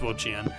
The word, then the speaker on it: Wo-Chien: Also, it's Wo-Chien.